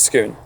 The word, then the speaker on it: Scone: I think we'll stick with Scone. I think we'll probably should stick with the correct pronunciation, how the Scots pronounce it, shouldn't we?